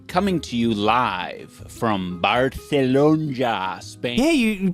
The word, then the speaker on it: Barcelona: I am coming to you live from Barcelona, Spain. Yeah, you you pronounced it right.